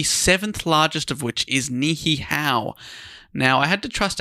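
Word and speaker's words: Niʻihau: is pronounced as locally nihow. Sorry. Nihow. So you have to break up the E sound, right?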